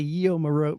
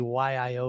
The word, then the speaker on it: YIO: whole video i'm like yeah check out the yo remote and i'm like you dummy i even asked you guys prior to making that video how do you pronounce it so it's actually y i o remote so kind of tell us what it